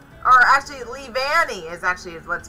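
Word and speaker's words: Leavanny: oh my goodness oh we are connected with levany or actually lee vanni is actually what's called so that's pretty cool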